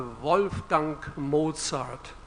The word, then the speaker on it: Wolfgang Mozart: I'm from Germany so now you will hear the proper German pronunciation of a wolf dunk Mozart Wolfgang Mozart he once described how